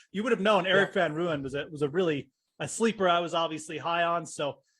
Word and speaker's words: Van Rooyen: And how do you pronounce his last name? Rooyen? Rooyen. Van Rooyen.